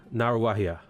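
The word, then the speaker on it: Ngāruawāhia: For example, this is in Ngaruahia, it's Naruahia. Ngaruahia. It's kind of like ing, like doing. You take the ng and you make that, so it's like Naruahia.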